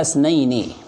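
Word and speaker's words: اثنين: Al-musanna huwa ma dalla ala isnaini. Ya. Untuk isnain itu hamzahnya hamzah wasal, sehingga ketika di tengah kalimat hamzahnya tidak terbaca, sehingga bacanya ala isnaini, bukan ala isnaini, bukan.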